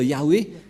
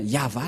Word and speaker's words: Yahvah: n'est pas du ça ne devrait pas du tout être Yahwé qui ont induit en erreur les catholiques romaines car dans le le cheftor et bien yava la la prononciation et on va prendre en photo car certains aussi disent que que c'est ywa mais pas yava et c'est encore